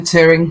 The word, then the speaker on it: Turing: Turing. Did I pronounce it incorrectly? Yeah. It's Alan Turing.